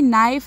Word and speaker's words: knife: Now question number two, write any three words in which the letter K is silent. So the answer is knee, knife and knot.